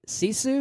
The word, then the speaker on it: Sisu: You'll also talk about the World War II revenge flick Sisu. I believe I'm pronouncing that right. Sisu.